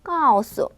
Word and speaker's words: 告诉: 까오수, 까오수. 자, 발음을 써드리면 이렇게 써드리면 되는데요.